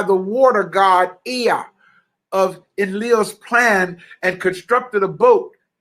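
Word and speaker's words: Enlil: great flood sent by emil i'm sorry i think it's pronounced in leo e-n-l-i-l to drown every living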